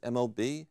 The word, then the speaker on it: MAHB: Google it, mob at stanford.edu. Just M-O-B? M-A-H-B. M-A-H-B, but we pronounce it mob because we like the idea of being mobsters.